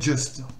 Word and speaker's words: just: Là, le J, vous allez prononcer Dieu. Le U va se prononcer, c'est le fameux E de œil. Et donc, ça fait just. Just. Lest, just. Donc, c'est son E. Let's just.